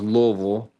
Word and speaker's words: Louisville: the the native Louisvillians would it's pronounced Louisville.